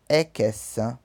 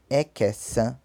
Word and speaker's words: ẹ̀kẹsàn: Nono, ẹ̀kẹsàn, ẹ̀kẹsàn.